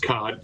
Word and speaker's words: khat: It is actually pronounced khat.